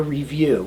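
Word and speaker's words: ReeVue: actually do a test here it's called a review and it's spelled r-e-e-v-u-e you breathe into this machine and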